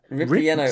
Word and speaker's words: ripieno: Ripieno. say that? Ripieno. Ripieno. Like I've ripped up this piano, but it's not that.